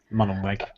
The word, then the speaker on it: Mullenweg: I thought the interesting thing was Matt, however you pronounce his surname. Mullenweg.